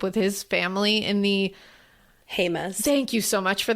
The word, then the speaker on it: Jemez: Jemez. Thank you so much for that pronunciation.